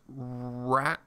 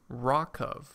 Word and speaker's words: RWKV: It's pronounced Rockov. Rockov.